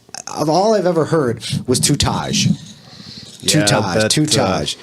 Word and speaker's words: Tutaj: So it's pronounced like all I've ever heard was Tutaj. Tutaj. not quite That's close. forever. John, can you please clear the air? How do you pronounce your name? Tutaj. Tutaj. That's it. It's like 2 Chainz.